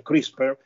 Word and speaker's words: CRISPR: Allora, Anna, io ti tolgo subito dall'imbarazzo di decifrare questa sigla, questo acronimo pressoché impronunciabile, CRISPR, che in realtà si pronuncia CRISPR, mettendoci una piccola E prima della R finale, che vuol dire niente